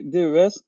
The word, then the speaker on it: DES: vous ne connectez pas de la TVA et là aussi petit focus sur les déclarations spécifiques à réaliser c'est la des donc ça ça prononce pas d mais des c'est la déclaration européenne